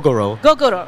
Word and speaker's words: Gogoro: Horus Luke um and your company is called gogoro is that the correct correct pronunciation it's called goo gogoro okay and um it's a very interesting sort